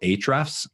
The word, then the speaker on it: Ahrefs: Another tool that I like quite a bit is called Ahrefs. That's how it's said, but it's spelled Ahrefs.